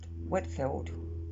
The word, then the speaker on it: Whitefield: The first came in the 1740s to the colonies during the days of Jonathan Edwards, Gilbert Tennant, George Whitefield, might be pronounced Whitfield, I think, and others.